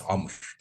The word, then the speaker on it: Amr: As a very quick start, my name in Arabic, it's Amr. But for non-Arabic speakers, it's very difficult to pronounce alphabet. It's Ain in Arabic.